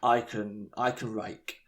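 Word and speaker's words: Ehrenreich: Is it not like olden Icon Reich or something? Yeah, it's Alden Ionic Rake.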